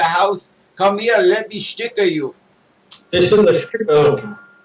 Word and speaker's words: Sticke: pronounce this wrong, but it was spelled S-T-I-C-K-E, but they pronounce it Sticke.